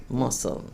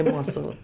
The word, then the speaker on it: Mossel: So the correct pronunciation is? Mossel. I just do so I say Mossel.